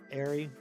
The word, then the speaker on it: Ari: You get it because your name is Ari and it rhymes with fairy.